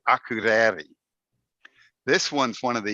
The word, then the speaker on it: Akureyri: Another town, Akureyri. I spent the whole week. By the end, I finally could say Akureyri.